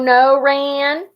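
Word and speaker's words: Sonoran: of boys snickers so noren then pronounces the word slowly it's the name of the desert around where i lived in tucson so no ran snow oaring frankie sneers whatever it's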